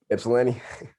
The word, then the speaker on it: Ypsilanti: Ypsilanti.